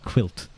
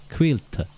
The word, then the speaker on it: Caílte: But I'm officially calling you Caílte and pronouncing it quilt, because that's as best as you can do. So yeah, quilt. Quilt is a good start. Caílte.